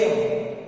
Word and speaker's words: air: We don't pronounce that R, and that's why the sound is air. It is air.